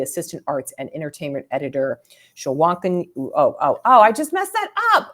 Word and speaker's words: Shwanika: Just replace the I throws people off, but like how you pronounce this is like pretend there's an A there instead of an I. So then it's just Shwanika.